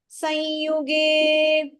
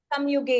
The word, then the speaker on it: संयुगे: Jataroshasya sanyuge. जातरोषस्य संयुगे. Together. Jataroshasya sanyuge. जातरोषस्य संयुगे. Samyuge is also correct. You can pronounce it.